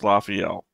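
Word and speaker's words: Lafiel: be able to read I again limra is pronounced lafel okay well that's the thing that I got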